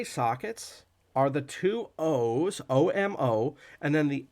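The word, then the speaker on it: homo: at Pharisee he sees omo now omo is a Latin word meaning man and it's it's spelled h-o-m-o but it's pronounced omo you don't actually say the H so what is the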